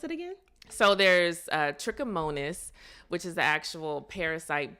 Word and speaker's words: trichomonas: at least I do so is that so pronounce it again so there's trichomonas which is the actual parasite bug that's causing